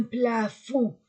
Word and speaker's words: plafond: plancher un plafond un plafond je ne prononce pas le d une lampe une lampe